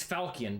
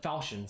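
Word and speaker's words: Falchion: it's like a falcon i'm never sure to pronounce that it's it's falcon but falcion sounds way better ah that sounds real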